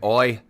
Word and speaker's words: oy: So I say oi, and it's spelled O-Y.